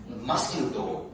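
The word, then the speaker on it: mosquito: नहीं बोलते हैं, मस्किटो।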